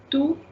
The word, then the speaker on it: tout: When I read it separately, it will be a tout à l'heure.